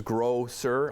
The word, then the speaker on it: Grocer: Grocer, I should say, to pronounce it properly and the way it's spelled.